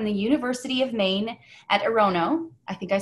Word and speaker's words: Orono: She received her BA in geology from the University of Maine at Orono. I think I said it wrong. Orono, there it is.